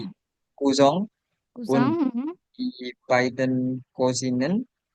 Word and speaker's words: Cousin: Also Isabel Sante, Ja, Tante und Onkel und auch Isabel Kosten Kusang und bacanya. die Cousin Kusang.